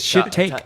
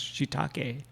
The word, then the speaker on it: shiitake: That's shiitake. Shit take. Should take. Yeah. It's actually one of the things that like Japanese people, they love to pronounce the E.